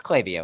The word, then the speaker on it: Klaviyo: do you say it by the way it's clavio I so like I don't they know um